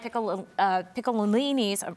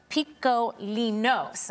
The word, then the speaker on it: Piccolinos: Tell me a little bit about why Piccolini's, excuse me, I got to get the pronunciation correct. Piccolinos, all right?